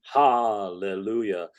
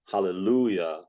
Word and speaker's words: Hallelujah: is to to attack the ha of Hallelujah when the actual word is hallelujah and the stress should come on the Lou and to to really